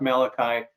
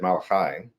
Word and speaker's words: Malachi: Well, first of all, with your Jewish heritage, you should have said Malachi, because I that know. would be the correct way of pronouncing it.